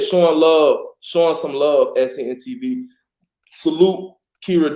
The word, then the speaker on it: Kera: You say Kera, which a lot of people do call me that, but it's Kera. Kera. Yeah, Era with a K.